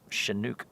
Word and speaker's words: chinook: a bit of it anyway pronounced like she chinook the first nations call it a chinook a storm or that warm wind a chinook cool word shenouk oh it's all dark over on walter peak